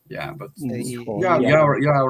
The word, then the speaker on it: Ihor: Ukrainian pronunciation is Ihor, right? Igor, yes, it's a little bit softer. Yeah, but Ihor, you are right.